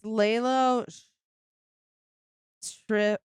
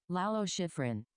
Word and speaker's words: Lalo Schifrin: Okay, it's Lalo Schrift.